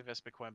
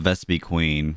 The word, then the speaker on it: Vespiquen: Like, I was going to say Vespiquen, but no, because I haven't heard anyone mispronounce it. But, I used to call it Vespiqueen, but I didn't realize it was, like, down one E.